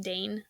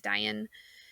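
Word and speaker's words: Dáin: It ended up being his cousin Dian, which in the movie I believe is pronounced Dane, but I believe it is Dian, ends up sitting the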